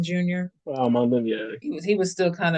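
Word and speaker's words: Smael Mondon Jr.: Smile Mondon Jr. Munden, yeah.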